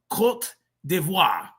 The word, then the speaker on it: Côte d'Ivoire: It's pronounced Côte d'Ivoire.